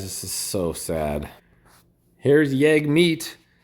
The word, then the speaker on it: Jagmeet: is so sad here's yag meat pronounced yug rims with hug rhymes of hug meat yug meat leader of Canada's new